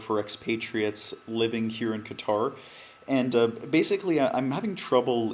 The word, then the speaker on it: Qatar: Is it Qatar or Qatar? Qatar. Let's say Qatar.